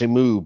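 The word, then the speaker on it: שִׁמְעוּ: Shemu uh it's pronounced Shemu, but the hero Israel is Shemai, so Yeah.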